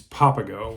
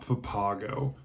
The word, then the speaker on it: Papago: I definitely definitely and it's papao Wells not Papago so papao Wells The